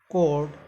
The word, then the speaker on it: record: Like if you say record as a noun form, तो you will say this word रे, और कोड को बोलेंगे कर्ड, record.